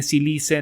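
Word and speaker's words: sílice: silice más bien eh que es lo mismo nada más en inglés se pronuncia silica y en español es silice no pero es rico en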